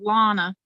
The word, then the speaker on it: Lonna: your name one owner just like just like donna just like donna but with an l lana okay where did you